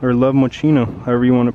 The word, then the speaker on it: Moschino: Oh, it's Love Moschino, or Love Moschino, however you want to pronounce it.